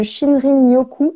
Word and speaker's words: Shinrin-yoku: Et ça va être très intéressant que tu nous en parles de guide de Shinrin-yoku. Est-ce que je le prononce bien?